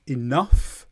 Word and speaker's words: enough: Enough. GH makes a f sound.